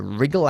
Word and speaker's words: wriggle: out of means okay the W of course is completely silent to rle can you